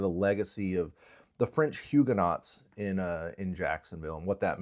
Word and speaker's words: Huguenot: And actually, the name is Huguenot. Oh, okay. Huguenots is the British pronunciation of the French word Huguenot.